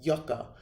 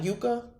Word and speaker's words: Yucca: and knocked him out you guys pronounced Yucca not Yuka oh Yucca I don't